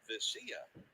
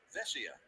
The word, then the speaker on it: Vesia: We were told that he pronounced it Vesia, but here last night at Dodger Stadium, everybody was calling him Vesia.